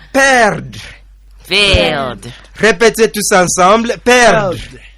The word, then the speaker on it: perdre: So the verb perdre, it means to lose. Répétez, perdre. Perdre. Can you spell it for them, Roderick?